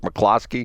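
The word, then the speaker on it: McCloskey: stuff did I say it right again Mark McClosky yeah you're out a streak Brad you're on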